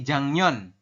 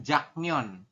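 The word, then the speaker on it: 작년: Jadi dibacanya itu adalah jangnyon. Bukan jaknyon.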